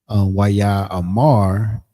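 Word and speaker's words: ויאמר: Most Hebrew words have the stress on the final syllable. So it's almost like you'd be practicing. Well, when they say stress on that final syllable, it's almost like Waya Amar. So it's just sometimes you putting that more emphasis on that last syllable, which is the mar. Not necessarily ra, because the ma and the ra are connected.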